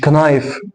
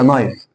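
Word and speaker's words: knife: مش كنايف. ناس كتير عارفه بتقولها كنايف، لا هي نايف. ليه؟ عشان الكي في اول الكلمه لو جه بعده حرف الان الكي سايلنت ما بنطقش، يبقى اقول ايه؟ نايف.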